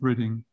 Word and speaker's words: Reading: west of London it's spelled reading that is pronounced reading and their I was born in Reading in 1947 not long after I was born